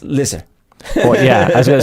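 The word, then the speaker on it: Leicester: i'm going to try to uh get this leash chester it's pronounced lizard yeah i was gonna say but then the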